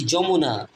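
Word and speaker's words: Jamuna: ফদ্দমা বাংলায় বলে ফদ্দা দিদ দি ফদ্দমা দি যমুনা জে এ জে এ জে জা এখানে উচ্চারণ হবে জ এম ইউ মুন এ না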